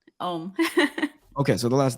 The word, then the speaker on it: Oum: SIYA, and then the last name is pronounced? OUM.